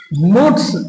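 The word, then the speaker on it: moulds: और मुड्स इसे मूड्स पढ़ा जाता है। इसमें एल साइलेंट है।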